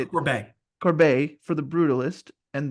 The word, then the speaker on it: Corbet: I think it's pretty safe to put Brady Corbett, how do you say it? Corbet.